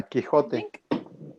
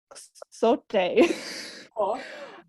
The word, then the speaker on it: Quixote: Yeah, Quixote. Quixote. Quixote is the name. Because with X, I would try and say it like Quixote.